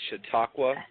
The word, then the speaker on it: Chautauqua: Well, that's close. It's Chautauqua County, but that's actually like a Indian. It's Iroquois. It actually has a meaning. The meaning for it is a bag tied in the middle, whatever that means. But it is Chautauqua.